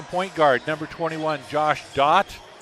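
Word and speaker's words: Dhatt: guard number 21 Josh dot that is spelled d-h-a-t-t but it's pronounced Dot d-o-t he'll be playing at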